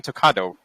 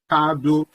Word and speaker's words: Talkado: and why the name Talkado? Yeah, it's do. It means talk do.